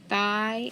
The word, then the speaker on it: thigh: else does it have tri graph igh so underline it long i sneaky g sneaky h thigh and then bone is